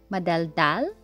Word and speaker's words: madaldal: Madaldal, stress on the last syllable, and tahimik, stress on the second one.